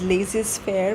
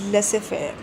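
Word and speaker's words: laissez-faire: Mis pronounced phrase people and usually end up pronouncing it as Laz fair but it is not lazes fair uh it is lesser Fair okay let's let's quickly understand the difference between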